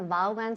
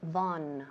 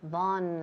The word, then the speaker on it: Vaughan: Claro, todo el mundo aquí en España dice Vaughan Sistemas. Claro, por supuesto aquí todo el mundo conoce la empresa así. Pero en realidad en inglés es Vaughan. Vaughan.